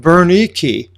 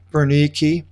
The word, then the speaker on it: Bernice: And some days having elapsed, Agrippa the king and Bernice, that's how you pronounce it in the Greek, Bernice, arrived at Caesarea.